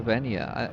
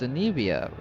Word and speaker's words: Anevia: I'm never gonna remember if it's Anevia or Venia. It's Anevia. Anevia.